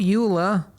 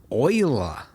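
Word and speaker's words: Euler: shift a utility rotation rotate not Ula Oiler that yes I know they went with the weird pronunciation I think it was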